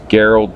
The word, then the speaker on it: Gerald: remember my name is Gerald Gerald with a hard G as in Gary I come from a